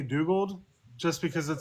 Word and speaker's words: Dugald: I don't care how you pronounce it. And now it is Dugald, right? Technically, I say Dugald just because it sounds closer to his original name, which was Douglas, which I couldn't stand.